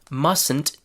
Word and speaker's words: mustn't: The contraction mustn't is written with the letter T, but the T is not pronounced. So listen again. Mustn't. There's no T there. It's not mustn't. It's mustn't.